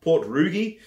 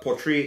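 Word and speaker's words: Port Ruighe: the poetry which is sometimes spelled port roogie if you try to pronounce it but poetry is the way of pronunciation now I've also got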